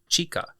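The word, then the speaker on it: 地下: And underground is chika. Chika is spelt C-H-I-K-A.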